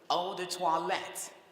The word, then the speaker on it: eau de toilette: Second word, eau de toilette. You spell that word this way, E-A-U-D-E-T-O-I-L-E-T-T-E.